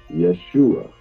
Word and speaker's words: Yeshua: Well, this is where it blew my mind, is it the transliteration and phonetically how we say it, salvation in Hebrew means Yeshua.